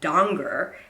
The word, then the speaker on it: Danger: Doesn't rhyme with stranger like everyone assumes. It's actually Donger, and usually I correct people.